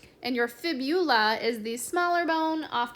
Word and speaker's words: fibula: Most people like to pronounce these and like kind of combine the words of saying tibia and fibia, but it's actually fibula. So if you put fibia, it will be wrong. It is fibula.